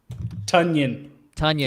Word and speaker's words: Tonyan: Tunyon. Yeah, Tunyon. It rhymes with Funyun.